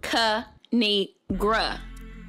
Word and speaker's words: Kinigra: me tell y'all a thing of three it's pronounced ka negra now subscribe oh i cracked myself up